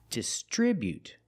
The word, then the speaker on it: distribute: The second i is the short i like this is distri. Putting the stress on the second syllable. Distribute. We see the buu together making the sound bu not but distribute. distribute. With the T at the end after the vowel, you can make a stop T sound. Distribute. You don't have to release the T.